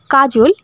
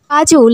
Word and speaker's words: Kajol: ভাবে ইউজ করতে পারেন প্রথমটা হচ্ছে কে এ জে ও এল কাজল অর্থাৎ যেভাবে আমরা বাংলায় উচ্চারণ করি সেভাবেই এবং দ্বিতীয়টি হচ্ছে কে এ জে এ এল কাজল এটিও ইউজ করা হয়ে থাকে স্পেলিং এর